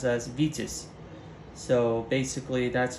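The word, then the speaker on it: Витязь: I believe in in Russian itself um it's pronounced as vitus so basically that's how we're gonna refer to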